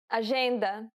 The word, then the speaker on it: agenda: The letters J and G can sometimes be pronounced like J. It sounds like the S in pleasure.